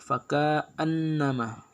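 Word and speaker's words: فكأنما: Kemudian yang ke-15 faka annama, hukum bacaannya di sini gunnah musyaddah karena ada huruf nun bertasydid. Cara membacanya masuk dengan mendengung.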